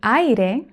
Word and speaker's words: aire: For example, in the word aire, there is one open vowel and one closed vowel. Ai, ai.